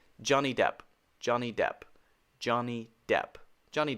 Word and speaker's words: Johnny Depp: Not Depp, just P. Johnny Depp.